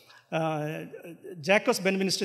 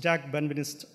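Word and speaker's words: Jacques Benveniste: people approach this uh Jack has been Minister this English means spelling but in French I think the pronounced Jack benvinist so he was a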